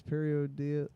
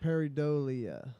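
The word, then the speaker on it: pareidolia: Oh yeah, it is periodelia. No. Periodelia. Periodelia. Peridolia.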